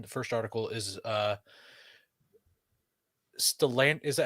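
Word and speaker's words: Stellantis: the first one the first article is uh stellan is that how you say it stalantis koi yes and that's how you say it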